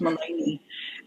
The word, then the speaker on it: Melanie: So they halved it up, spelled it like Melanie, but it's pronounced Malani.